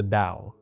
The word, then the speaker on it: Tao: A text called the Dao Ding spelled Tao Ding but it's pronounced the Dao, right?